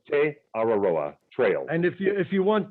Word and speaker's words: Te Araroa: And for those people who need a spelling check, it is T-E, next word, A-R-A-R-O-A, and it's pronounced Te Araroa Trail.